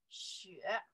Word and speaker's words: 雪: 雪. This character pronounced 雪, right?